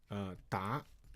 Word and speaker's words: 答: Okay, next one has a second pronunciation of 答.